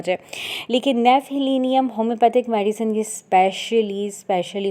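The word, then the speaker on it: Gnaphalium: अ नेफहलीनियम। नेफेलिनियम homeopathy की medicine है। Start यह जी से होती है। लेकिन जी जो है वह इसका साइलेंट है। इसको ऐसे ही प्रोनाउंस किया जाता है।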